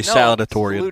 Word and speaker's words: salutatorian: No, it starts with salad. Yeah, just say salutatorian. Salutatorian. Yeah. I said it right.